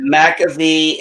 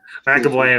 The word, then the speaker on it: McAvoy: McAfee and Fenderbash. Hey, if I said his name wrong, McAvoy and Fassbender.